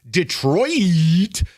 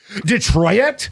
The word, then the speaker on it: Detroit: They always do this Detroit. Like they they they annunciate the I. What is that? It's a French word. Detroit. Detroit. Detroit. Canadian. Detroit doesn't rhyme with toilet.